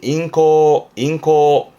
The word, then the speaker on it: 咽喉: 이게 인후, 발음은 인코.